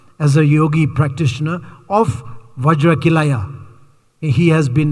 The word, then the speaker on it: vajra: his pronunciation was wrong so he always say vaj chili Kaya K Kaya instead of saying vajra K Kaya he was